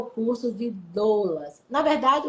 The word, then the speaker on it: doula: Esse é outro aprendizado que nós vamos ter no curso de capacitação das doulas.